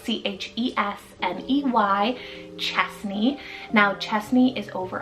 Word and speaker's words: Chesney: So we have Chesney, spelled C-H-E-S-N-E-Y, Chesney.